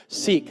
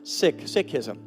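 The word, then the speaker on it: Sikhism: somebody from the sick tradition to be here seik as we know it but it's actually pronounced sick sism and unfortunately they weren't able to make it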